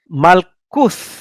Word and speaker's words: malkuth: Malkuth. You need a TH there.